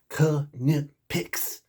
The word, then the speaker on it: KNIPEX: And it is KNIPEX, because that's how they say it on their website.